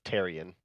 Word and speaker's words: Therian: of your last name there's no h it's tyrion that's what i said